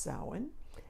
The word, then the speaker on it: Samhain: my pumpkin and it spelled like you would say Samhain but it's actually pronounced so in' and it means the